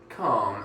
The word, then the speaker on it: calm: Calm. Exactly. So it's a long A. It's an like elongation. 3 A's. Yeah, it's like calm. Calm. Calm. Calm. Exactly.